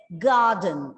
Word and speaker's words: garden: In the garden, see, it's garden. R is again silent.